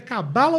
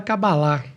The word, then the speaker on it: Cabalá: O correto seria a gente falar Cabalá, porque ela se escreve com H no final. E normalmente essas palavras em hebraico, elas têm como se fosse o nosso acento agudo no final.